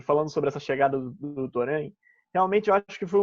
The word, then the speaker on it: Torrent: Mas a gente ainda vai falar mais disso no programa também, que o Torrent, já mudei a pronúncia, né? Torrent, enfim.